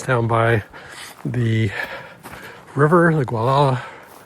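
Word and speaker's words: Gualala: A very pretty park is down by the river, the Guala. It's actually pronounced Wala by the folks locally here.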